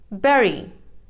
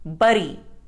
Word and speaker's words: berry: Berry. It is mispronounced as bury. The correct pronunciation is berry.